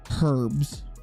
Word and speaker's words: herbs: Um, and I don't pronounce the H in herbs. So, I apologize for not pronouncing the H in in some of my words, man.